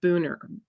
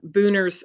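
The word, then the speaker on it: Buhner: his name Steven Herod booner I think it's how you pronounce it b-u-h-n-e-r and he he's phenomenal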